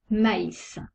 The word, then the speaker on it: maïs: Il sépare 2 voyelles pour bien prononcer distinctement les 2 lettres. Exemple, maïs. On prononce le A et le I.